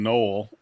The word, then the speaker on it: Noel: town we live in Knoll is what everybody calls it but it's spelled Noel so there'll be people